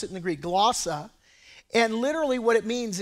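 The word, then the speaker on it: γλῶσσα: Now that phrase, other tongues, in the Greek, it's glossa. That's how you pronounce it in the Greek, glossa.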